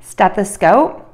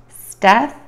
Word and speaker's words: stethoscope: Stethoscope, a medical device used for listening to the heart and lungs, is pronounced steth-a-scope.